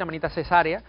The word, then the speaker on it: Amanita caesarea: Se escribe caesárea, pero se le suele decir Amanita cesárea.